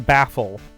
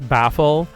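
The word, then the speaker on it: Bafeal: like Oh, and uh Baffl though Baffl's name is spelled B A F E A L.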